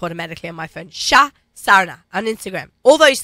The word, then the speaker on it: Sarna: Shah Sarna on Instagram.